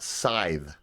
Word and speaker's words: scythe: And this is pronounced scythe.